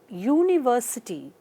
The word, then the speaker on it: university: article now look at uh the examples here University it begins with a wavel sound U yes